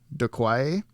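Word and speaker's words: Doqui: uh mary devin as some lady bob docky it's spelled d-o-q-u-i de quai as doctor uh he played a character that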